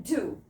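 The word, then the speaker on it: deux: Dukes लिखते हैं dukes and बोलते हैं डू.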